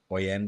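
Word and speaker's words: Hoyeon: an Asian actress called Hoyen or Oen. And then what's the name again? Uh, Oen because I don't know if you pronounce the H in Korea.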